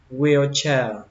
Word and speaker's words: wheelchair: thế này cho mình: chữ O và chữ E các bạn đọc nhỏ thôi, chủ yếu là đọc chữ we và chữ che, đọc là wheelchair.